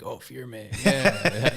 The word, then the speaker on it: firme: it's called firm foundation fear me it's spelled firme okay um it means something